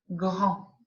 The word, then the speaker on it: grand: grand à n en grand le d je ne prononce pas je ne dis pas